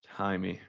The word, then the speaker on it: Jaime: I spell it Jamie, but it's not. Jaime.